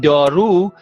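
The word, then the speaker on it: دارو: This u, this vav is pronounced u because it's at the end of the word.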